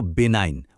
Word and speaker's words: benign: আজকের শব্দটা হলো বেনাইন। উচ্চারণটা খেয়াল করে শুনুন। বি নাইন। এখানে কিন্তু জি সাইলেন্ট থাকবে।